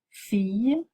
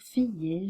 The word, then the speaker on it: fille: entend pas le X fille j'habite fatigué petite on ne prononce pas le E à la fin de ces mots faites attention parce que vous avez tendance à dire filler j'habité surtout pour le